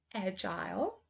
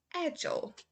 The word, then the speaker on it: agile: to the u.s pronunciation agile agile fertile fertile hostile hostile mobile mobile versatile versatile so as you can see the difference here is in uk they say i agile us it's a agile okay so that's the